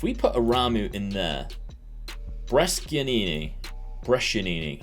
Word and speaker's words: Brescianini: If we put Aramu in there, Brescianini, I think people have been telling me is how you say it, and we will put Piccoli in there as a big target forward.